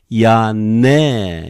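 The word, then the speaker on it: Ἰανναί: Ya ne, even though there are two consonants, we just simply pronounce one. Ya ne. Okay, R-E becomes E. It is another diphthong with accent. Ya ne.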